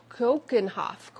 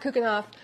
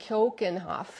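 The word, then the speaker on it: Keukenhof: to pronounce it correctly kenoff kenoff it's not cooken Hof I know that it's like Cen Hoff so we have had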